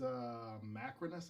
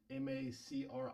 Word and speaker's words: Macrinus: So he plays Macrinus, I think that's how you pronounce his name. Macrinus, Macrinus, I think.